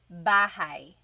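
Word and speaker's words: bahay: You might notice that the spelling is a y at the end. So it looks like bahi, but it's pronounced bahigh. That a y combination is bahai.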